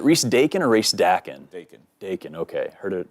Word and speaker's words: Dakin: Dakin, okay. Heard it pronounced a couple different ways, but you got